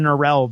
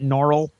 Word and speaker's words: Norrell: He pronounces it Norrell. Right. And everybody thinks that that's so low class that they're like, Mr. Norrell. And he's like, it's Norrell, actually.